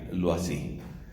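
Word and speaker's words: Loisy: ella era su apellido como es un nombre francés entonces tenemos que pronunciar lo no así g l eau y latina s y lo así lo así es el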